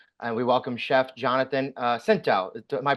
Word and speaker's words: Scinto: And we welcome Chef Jonathan Scinto. Am I pronouncing that right?